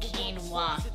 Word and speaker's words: quinoa: That quinoa salad you made the other night is fucking fantastic. It's pronounced quinoa, you dummy.